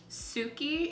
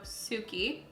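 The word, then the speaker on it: Tsuki: So we have Strawberry and Suki. It's T-S-U-K-I, so I'm assuming the T is silent. So Suki.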